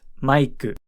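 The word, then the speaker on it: マイク: dropped foreign the name Mike in Japanese is pronounced maiku Mike when referring to others in Japanese we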